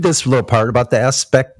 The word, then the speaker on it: Aspect: Let me read this little part about the aspect. It's aspect, but it's French, bitch. So it's pronounced Aspe.